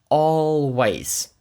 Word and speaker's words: always: always означає завжди і воно є також цікаве своєю вимовою тому що там є дві літери A і дві вони читаються по-різному перша звучить як о а друга як A always далі слово brings -